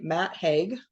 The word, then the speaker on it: Matt Haig: book it's called The Midnight Library by May Matt Hague that's how you say his name and uh